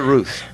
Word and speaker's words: Ruth: 1722 Ruth streets downtown I guess I'm pronouncing it right Ruth or is it no it's Ruth I'm not a native dallasite me neither but I've learned but we call we call it Ruth all right 1722 Ruth